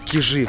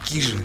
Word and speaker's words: Кижи: Неправильно говорить Кижи, правильно говорить Кижи.